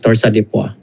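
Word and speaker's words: torsades: went into VTA and torsadua it's pronounced as dorsa so uh unfortunately Uh the patient expired.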